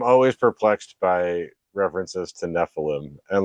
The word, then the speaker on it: Nephilim: In other, it's actually pronounced from the Hebrew, Nephilim.